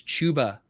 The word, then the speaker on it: Chuba: i got i uh i had been saying chubba hubbard all off season and then i was scolded and i learned that it's the correct pronunciation is chuba hubbard so yeah i mean